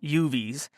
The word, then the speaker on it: UUV: UUVs, pronounced UVs, had decent sonar capability, but most COs hated using them since they were a copper-plated noisy bitch to launch and recover.